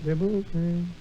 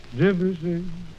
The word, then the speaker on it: Debussy: It is not Debussy, but How then? Debussy. Debussy, how's that?